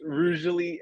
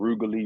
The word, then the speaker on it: Rougely: But it's Rugely, and then I hear it said different ways, all kind of sound. Rugally, Rougely, roughly.